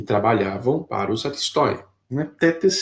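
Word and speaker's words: thetes: Tetes se escreve th e t e s, tetes, né?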